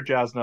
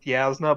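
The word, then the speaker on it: Jasnah: oh i pronounce her jasmine all the time so yeah so i feel better about it if the author can't get it right yeah it's supposedly pronounced yasna but spelled jasma i feel like he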